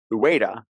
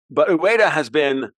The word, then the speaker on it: Ueda: replaced Kuroda at the BOJ 2 years ago, Ueda, his name is Ueda, U-E-D-A, Kazuo Ueda. I'm terrible at pronouncing Japanese names because, well, I don't speak Japanese.